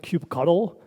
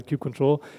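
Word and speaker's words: kubectl: and a cube CTL some people pronounce it cube cut' all our people now say cube control and it's very as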